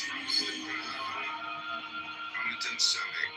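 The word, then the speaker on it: סמך: Samek pronounced Somek.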